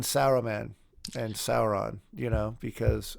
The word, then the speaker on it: Saruman: know how to say Saruman because I say sermon right and then Saruman you know and I still feel weird like like saying Sarah man and Sauron you know because uh because you